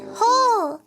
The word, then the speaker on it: whole: Hole. No. Hole. Hole. W H O L E.